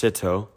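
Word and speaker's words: СТО: CTO is Russian. It's actually pronounced Sito.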